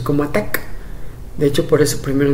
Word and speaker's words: ATT&CK: eso es que te digo que muchos lo pronuncian como att and seca no por el expulsado por el símbolo de